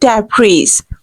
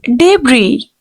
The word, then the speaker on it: debris: No way, this is not debris. Actual pronunciation will be S will be silent here. We have to this is a combination of two words. We can say debris, debris. The word is debris.